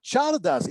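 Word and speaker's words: Csárdás: So Chicos is back in place, but now Chardas is between cycle and Nyandu, because in Hungarian, CS, which is pronounced just like CH in Spanish, counts as a separate letter.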